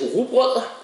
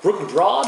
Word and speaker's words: Rugbrød: And 89 from Jakob and a 85 from me for the brewery's Rugbrød, or Rugbrød as Americans say.